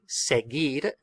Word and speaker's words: seguir: What that U is doing is making the G a G sound. A G sound, because if the U wasn't there, we would have to pronounce it seguir, seguir, and that's not the word.